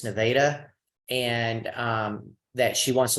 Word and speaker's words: Nevada: one in Nevada, because that's the way you pronounce that. It's not Nevada, it's Nevada.